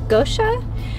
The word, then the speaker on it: Goetia: going to be starting I believe it's pronounced Gosha and uh yeah I